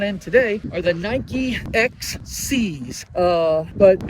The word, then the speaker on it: Excee: So, uh, shoes that I'm out in today are the Nike XC's. Uh, but it's spelled E X E E all is together in one word.